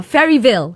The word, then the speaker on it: Faeryville: suggest go for Faeryville. That's right, man. I said it right? You did, man. You did. Faeryville.